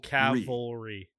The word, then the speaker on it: cavalry: um anyway um okay so just say it caval cavalry that's how you say it yes also Maryland